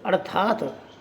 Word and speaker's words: अर्थात: जैसे अर्थात। अर्थात में आप देखोगे थे के ऊपर रकार लगा हुआ है। जब हम इसका उच्चारण करेंगे तो थे से पहले रे बोलेगा, अर्थात। अर्थात।